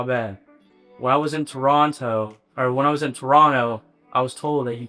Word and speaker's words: Toronto: When I was in Toronto, I was told that you can't pronounce the T. Like, it's super offensive. So, Toronto.